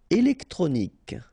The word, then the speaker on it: électronique: Électronique. Okay, so k at the end. Remember Q-U-E at the end. K.